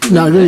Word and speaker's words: Nagu: All my pronunciation, I'm pretty terrible. Is it Nagu? I think. Nagu, yes.